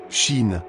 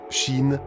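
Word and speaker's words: שין: 21e lettre, Shin, comme S. Cette lettre peut se prononcer S comme serpent ou CH comme chat.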